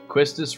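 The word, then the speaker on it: Quistis: earlier, this time it's Quistus Renoa. Quistus Renoa Zel. Let's write a double quest this Renoa quizzes. I say both. I mostly say Quistus, but sometimes I'll say Quistus.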